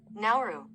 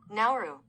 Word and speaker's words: Nauru: Nauru. Nauru.